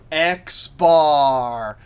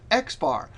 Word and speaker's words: X bar: When you see it written like this, math notation, you actually pronounce it X bar.